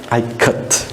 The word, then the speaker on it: Ikat: I will say here I as it is in ka. I as in it. How we pronounce I ka, Ikat.